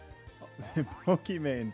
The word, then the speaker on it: Pokimane: Pokimane time, yeah. I mean, her name is Iman, so it's it's like it's supposed to be pronounced Pokemon, but no one ever pronounces it that way, and I don't think